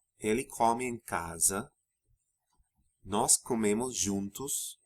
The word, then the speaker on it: come: their stems, comer, beber, the pronunciation of those vowels opens in the você, vocês, and third person forms, singular and plural, so that rather than the O sound in eu como and comemos, you pronounce something closer to O. Você come, ele come, vocês comem, eles comem.